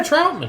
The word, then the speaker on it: Troutman: Yeah, Troutman.